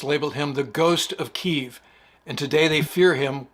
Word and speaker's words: Kyiv: Kyiv is how the Ukrainians pronounce it, and Kiev is how the Russians pronounce it.